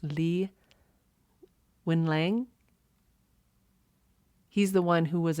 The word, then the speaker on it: Li Wenliang: I believe his name is pronounced Li Wenliang.